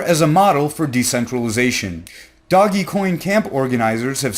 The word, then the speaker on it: Dogecoin: starting this week and doggy coin will be there I have recently found out that it is pronounced doggy coin and not Dogecoin some burners might say